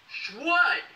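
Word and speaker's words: Shwood: She paid $450 on a handcrafted wooden eyewear collection from Schwood. That's right, Schwood. I'll spell that for you.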